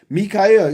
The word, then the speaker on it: Michael: Spelled Michael, but pronounced Mikhael.